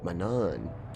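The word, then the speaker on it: Manaan: Manan.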